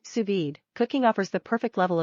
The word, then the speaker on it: sous-vide: what's on your menu what to cook sous-vide pronounced sous-vide cooking offers the perfect level of doneness for